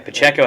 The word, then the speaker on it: Pacheco: So, like, Isaiah Pacheco, I found out how to pronounce his name finally. Pacheco had 62 rushing yards.